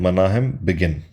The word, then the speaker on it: Menachem Begin: मेनाहेम बिगिन इसका pronunciation है।